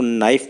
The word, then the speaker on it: knife: उदाहरण के तौर पर नाइफ में के का उच्चारण नहीं होता। इसे कहते हुए सिर्फ नाइफ कहा जाता है किंतु लिखते हुए KNIFE लिखा जाता है।